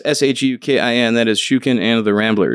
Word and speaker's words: Shukin: SHOOKEN. wow. At least it was phonetically correct, but it's like, damn. So, but yeah, it's SHUKIN.